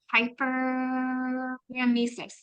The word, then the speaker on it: hyperemesis: So Joanne's hyperemesis, that's how you say it.